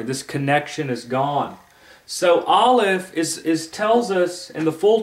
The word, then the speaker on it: Aleph: Now, what's interesting about the Hebrew letter Aleph is that Aleph is silent. Yeah, Aleph makes no sound, period.